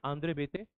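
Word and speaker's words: André Béteille: Spelling is this, pronunciation is different. Andre Bete.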